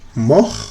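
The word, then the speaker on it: mort: es un verbo irregular su pasado es mo no se pronuncia la t este verbo hace parte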